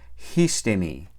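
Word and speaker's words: ἵστημι: Esta primera sigma desaparece y se queda ahí sola la iota. Y para compensar, la iota toma un espíritu rudo. Entonces esa palabra se pronuncia histemi.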